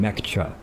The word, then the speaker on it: Mecha: Excuse me, I should say it properly from now on. Mecha. Mecca. It's not Mecca, it's Mecca. Because Mecha is Japanese for over-the-top, uber excellent, supreme, you